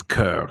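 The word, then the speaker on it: Coeur: do you say this it's Cur that's like heart the word for her oh and then Darlene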